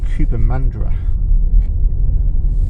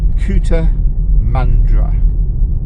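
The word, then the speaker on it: Cootamundra: in Australia this is Cooper mandra again uh silos on the railway line there for getting all the wheat out yeah I think you pronounce it couta mandra cter mandra sheep it's a sheep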